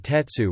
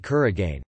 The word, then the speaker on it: 鉄: For example, iron is usually read with the on'yomi tetsu rather than the kun'yomi kuragane.